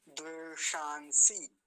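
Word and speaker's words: द्वेषांसि: इसका विशेष ध्यान रखेंगे क्योंकि सबसे पहले मूर्धन्य सकार है फिर दंती सकार है इन दोनों में भेद करने में बाधा होने के चांस बने रहेंगे आपको समस्या हो सकती है इसलिए अभी देख लीजिए ध्यान से दवे शांसी दवे शांसी ऐसा इसका उच्चारण होगा द्वेषा अगला देखिए प्र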